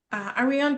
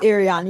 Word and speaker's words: Arion: Are we on and Simone and then darling Arian, please correct me if I'm pronouncing your name wrong. It's it's Arion. You're very, very close.